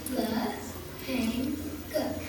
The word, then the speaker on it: lehenga: The dress for Deepavali is called a lehenga. It is pronounced like you're saying le-hang-ga.